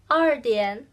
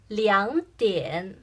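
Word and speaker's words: 两点: Probably you said 2点, but we say 2点. 2 is another pronunciation for 2. So before this o'clock, 点 2 pronounced as 2.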